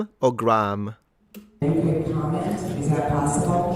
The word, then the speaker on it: Graham: So, people are say you're disagreeing actually, guys, cuz some say Graham Graham and some say Graham. So, I think it's a regional thing then probably. Let me let me guess. Maybe Graham in America and Graham in in England. I I'm just going off the tomato tomato at this point. Yeah, it's got to be a war. I'm from the UK. It's Graham. Gray.